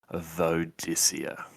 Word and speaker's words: Vodicea: And she is a clone of, and we talked about this one and are pronouncing it Vodicea. Yes, now, I believe that's correct pronunciation.